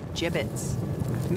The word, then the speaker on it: gibbets: out of here hey look avery had some gibbots left over gibbets what it's pronounced gibbets are you sure yeah well no one likes